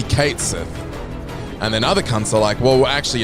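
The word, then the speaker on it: Cait Sith: it toow on and apparently we've been saying it wrong for years it's not cat Sith so some people say cat Sith cuz he's a cat and then people like it's actually Kate Sith and then other [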